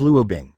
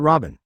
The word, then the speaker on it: Luo Bing: Hello, my name is Luo Bing, not Robin. It's just a matter of pronunciation.